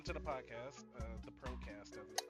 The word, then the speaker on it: Procazt: So, it's still pronounced Procast, not Procast because Wolf was making such a